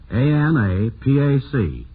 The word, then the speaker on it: Anapac: It's spelled A-N-A-P-A-C, Anapac.